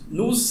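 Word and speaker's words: nous: Nus é uma palavra grega, né? Mas a transliteração é geralmente é n o u s. No né? A gente pronuncia.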